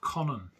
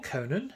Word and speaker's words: Conan: And I love Conan, or Conan, however you'd like to pronounce it. I pronounce it Conan because, that's the way I do.